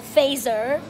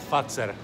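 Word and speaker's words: Fazer: So this is what I used to call phaser, and it's pronounced fatser.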